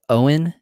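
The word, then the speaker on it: Óin: prefer the latter yes so proper way to say their names is owen and glowing so i know in the films it said oin and gloin but that is actually not the way um that tolkien's works tells us it is pronounced and if you actually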